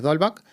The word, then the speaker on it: Dolbuck: Dolback sigue vivo. ¿Porque hay alguna reminiscencia de algún nick o algo? Dolback, que se escribe Dolbook, siempre me lo preguntan, ¿no?